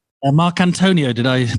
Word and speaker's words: Marcantonio: or marc antonio did i pronounce it right perfect right um yeah if